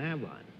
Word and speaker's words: Avon: How do you pronounce it? Avon.